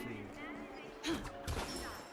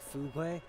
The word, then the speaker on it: fugue: One of my siblings pronounces fugue as in like fugwe, and I swear to God, it's super irritating. Like, I don't, like, it's alright. I mean, people have different ways of pronouncing things, but fugwe just sounds very wrong to me.